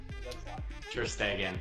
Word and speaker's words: Ter Stegen: Ter Stegen. I know, I always mispronounce it. I know, I'm telling you the right answer. Stegen, but it's an E. Yeah, that's why it's an E sound.